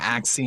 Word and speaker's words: Axie: um it's called ax how do you say axe infinity yeah axe c infinity actually infinity battle collect